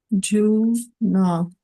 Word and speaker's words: Nagarjuna: Juna. Juna. And are those long or short, those last two? Long U. Actually, not. No, short. Short U.